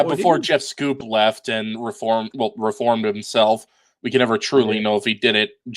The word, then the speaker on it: Schoep: I didn't know his name was pronounced Scoop. I've been pronouncing it Scope.